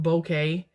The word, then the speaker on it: bokeh: something called bokeh it's cool spelled b-o-k-a it's pronounced bokeh and it will make the background blurry and